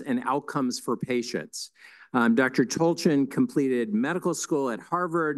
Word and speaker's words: Tolchin: For the fellows who heard me pronounce it incorrectly for weeks, it's Tolchin. I've been corrected, so that's the right way to do it.